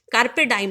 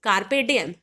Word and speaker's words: carpe diem: कार्पे डाइम नहीं, कार्पे डिएम, which means seize the